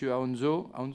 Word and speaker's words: Aonzo: Nous sommes heureux d'accueillir pour la première fois M. Aonzo, c'est comme ça qu'on prononce, président de l'Union indépendante et membre du Conseil économique, social et environnemental, accompagné de M.